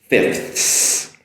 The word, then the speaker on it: fifths: So 5/5, fifths. I have my FIF, TH, and an S there at the end, which may pose a little bit challenging for pronunciation purposes, but that's the way it's pronounced.